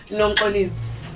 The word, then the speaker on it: Nomxolisi: Okay, so my name has 4 syllables, so we'll break it down. We'll start from the beginning. All right. Nom. O. Li. C. Let's get crazy. Let's say the whole thing.